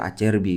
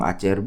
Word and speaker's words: Acerbi: sebelum kalian mengejek itu ngomongnya menurut pelafalan Itali itu dibaca acerbi kalau begitu kayak gaya English gitu Jadi mau ngomong acrb mau ngomong acrb ya boleh-boleh aja kemudian di depannya